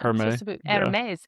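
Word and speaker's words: Hermès: Isn't that the brand you say it like? Well, for like if you buy the fancy scarves, the French scarves spelled the same way. Yeah, you're there's an accent. Hermes.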